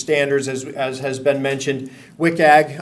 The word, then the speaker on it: WCAG: WCAG, I pronounce it differently. Some people WCAG, WCAG, whatever. But I'll call it WCAG, Web Content Accessibility Guidelines.